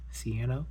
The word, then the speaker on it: Ciano: Alright, so as Ciano. Yes, that is how you pronounce that, Ciano.